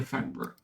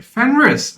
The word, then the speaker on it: Fenris: the new hero here, Fenra. So, sorry, Fenrris. I've been getting his name wrong.